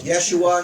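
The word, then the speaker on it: Yeshua: You do not have an H sound. Stop pronouncing it as a G, a soft G. Start pronouncing it as a Y. Put in an SH and take off the Greek ending US. And what do you end up with? Yesua.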